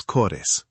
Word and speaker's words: cores: And cores is two light syllables. Co-res. You do not need to make it sound exactly like an English word.